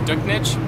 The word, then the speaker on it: Duchnycz: Jordan, how do you pronounce it? It's Duchnycz, but you can say it however you want.